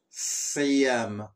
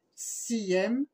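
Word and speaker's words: صيام: Siyam ou Saum. J'ai écrit deux S pour bien prononcer le S. On a Vas-y. Siyam, Siyam Siyam, ou soit Saum.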